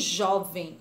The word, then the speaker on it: jovem: Nós temos jovem, a palavra jovem. Jovem, o jó é a penúltima sílaba, portanto, jovem é uma paroxítona não acentuada.